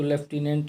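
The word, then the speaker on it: lieutenant: Several days later, Gandhi received a written communication from the magistrate informing him that the, इसे word जैसे लिeutenant, इसको लेफ्टिनेंट है, लेकिन लिeutenant spelling को ध्यान देंगे।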